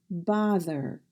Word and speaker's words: bother: Notice THER at the end of the word sounds like there, as in bother.